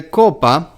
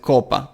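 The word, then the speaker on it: κόππα: It is an allophone. It is a different way to pronounce the very same sound as kappa, but it is mostly encountered before an O or an U.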